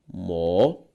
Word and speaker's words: mocotó: Mocotó. A sílaba tônica de mocotó, tó, uma palavra oxítona.